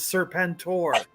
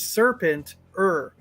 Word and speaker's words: Serpentor: Everyone, including Serpentor, says Serpentor. Like I am Serpentor, and you will watch me bow. But when Sergeant Slaughter screams his name, it's Serpent-er. Serpent-er.